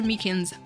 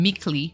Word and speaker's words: Meekins: for it actually officer Meekins at the Detention Center told us ah that poor little doggy poor guy I keep getting his name wrong and calling him meekly oh he told us